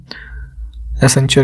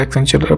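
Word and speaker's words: Accenture: एक IT company है एक्सेंचर है ना, एसेंचर या एक्सेंचर प्रोनाउंस करते हैं इसे, तो इन्होंने हाल ही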